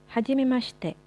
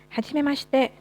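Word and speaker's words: はじめまして: Biasanya kalau huruf shi dalam bahasa Jepang memang tidak terlalu diucapkan huruf i-nya ya. Jadi kayak kita bilang hajimemashite, huruf i-nya jadi bukan hajimemashite tapi hajimemashite. Hajimemashite.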